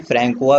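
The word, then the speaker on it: François: तो फ्रैंकोइस कैरोन, या फिर इन्हें फ्रेंच में फ्रैंकोआ भी बोला जाता है, प्रोनाउंस किया जाता है, तो आप जो भी बोले इससे कोई फ़र्क नहीं पड़ता है, बट आप नाम याद रखें।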